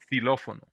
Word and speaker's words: xilófono: And when it's in the beginning of a word like xilófono, we pronounce it just like an S, xilófono.